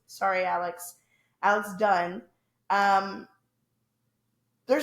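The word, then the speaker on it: Dunne: Alex Dunnies. Sorry, Alex. Alex Dunn.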